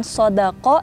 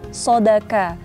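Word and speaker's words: صَدَقَ: Tapi sering gak sih kita tuh dengar orang kalau bilang sodako jadi malah Shadaqallahul azim, bukan sodako tapi malah sodaka. Jadi ko bukan ka, bukan sodakallah tapi sodakallah.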